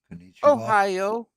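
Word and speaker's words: おはよう: By the way, in Japanese, do you know how they they pronounce it? Pronounce good morning. Ohio. Ohio. Ohio. That's how they pronounce good morning in Japanese.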